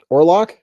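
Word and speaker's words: Orlok: O R L O K Orlock.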